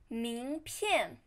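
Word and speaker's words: 名片: then card business card 名片名片 Here, 名 means name, 片 means card. The card with your name is business card. 名片名名 second tone, 片 fourth tone.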